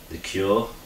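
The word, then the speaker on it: Cuore: A little bit more a tighter heart than the Cure. I think it's Cure anyway. It's spelled C-U-O-R-E.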